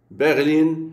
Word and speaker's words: Berlin: du jeu tout dance berline est accentuée sur la deuxième syllabe le i devant une seule console et rend berline prononcer le nom de cette ville comme le français berline